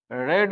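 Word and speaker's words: read: आई रेड a book ध्यान दीजिए यहां पर रीड का टू भी सेम होता है प्रोनंसिएशन चेंज हो जाता है है ना प्रोनंसिएशन हल्का चेंज हो जाता है लेकिन स्पेलिंग आपका सेम रहेगा तो यह भी सिंपल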